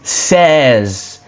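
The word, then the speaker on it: seize: So 16 is says says says.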